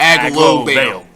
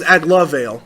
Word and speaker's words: Aglovale: A-G-L-O. It's literally. Oh, there's an O in there. Man. It's Aglovale. Oh, okay. I thought it was Aglavale.